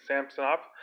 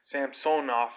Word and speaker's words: Samsonov: from the past Sergey Sam stop I don't get why they pronounced at least like goaltender who has the same last name Sampson off it just sounds really weird Sampson off that's but I grew